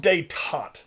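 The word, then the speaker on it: détente: idea and it's called dayton it's spelled detente richard nixon was too smart for his own good a lot of times but it's called de tot right even though it's spelled d tentate this is his goal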